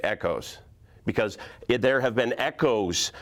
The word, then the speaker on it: ECOS: Because if I was to call the electrical culture of safety with a proper pronunciation, I would call it echoes.